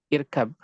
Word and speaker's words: اركب: Contoh irkab. Di depannya ada hamzah, ini ada hamzah yang wasal, sehingga bisa dibaca dan tidak, sehingga di sini kita mengetahui bahwa ra ketika subikot, ketika didahului oleh sukunnya sukun arid, maka dia dibaca tebal.